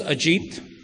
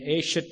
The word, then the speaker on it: Ajit: And I have about 2,000 versions ranging from A-shit to horseshit. And the spelling is A-J-I-T.